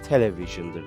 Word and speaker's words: television: bildiğimiz gibi televizyon demek sakın bunu İngilizcesini Türkçesi gibi Okumaya çalışma televizyon deme buna hayır bunun İngilizcesi television Değerli arkadaşlarım television demek